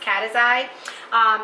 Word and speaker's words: Caceres: But you can reach out to me through love.cataxi, and that is pronounced Caceres.